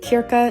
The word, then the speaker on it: Krka: Today, the crew, the girlies, are all headed to Kiraka National Park. And I'm probably saying all of it incorrectly. It's It's spelled K R K A.